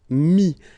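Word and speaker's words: mis: And then mettre, to put, so e-t-t-r-e, will give you this is, mi. Same thing here, final s is not pronounced, mi, okay.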